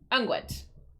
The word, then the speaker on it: unguent: Unguent. This is like the 4th time it said it. Unguent. I did say it right. Okay. Unguent.